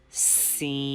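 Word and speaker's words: س: Scene. Please don't forget to produce whistle sound in this letter. Whistle sound is very important scene because whistle sound is characteristics of scene.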